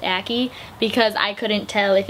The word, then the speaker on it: Aki: her and they do explain that acne is pronounced a key because I couldn't tell if it was a